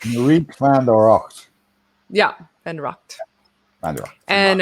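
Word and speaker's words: Marieke van de Rakt: Yeah, it's Marieke van der Rocht.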